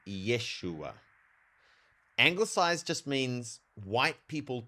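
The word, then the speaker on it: ישוע: In white for white people, we pronounce it Jesus, but Hebrew doesn't actually have a J sound. It has a Y sound. So his name is it's it comes from Yeshua and it goes through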